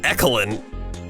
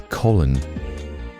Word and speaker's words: Colin: Your name isn't Ekelin. E-Coline? No, it's Colin.